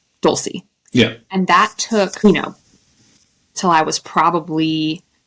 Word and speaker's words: Dulce: But when I was a kid, I accepted the pronunciation that white Americans could say of my name. So I went by Dulce because that was the easiest for Americans to pronounce. Dulce.